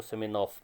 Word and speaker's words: Semenov: Please understand, in Russian, it is a Russian story, and in Russian language, V is pronounced as F or F. So it is Semenov.